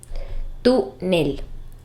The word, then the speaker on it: túnel: La palabra túnel lo es también y tiene el acento en la sílaba tú, túnel.